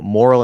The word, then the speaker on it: moral: still sound perfectly fine so moral and more Moral Moral Moral and more uh the the first part the more part is exactly the same but you have to add all to the first word um and the easiest